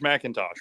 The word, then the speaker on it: Mackintosh: it's all good so Josh Macintosh right yeah correct it's easy it Rhymes that's fantastic so thank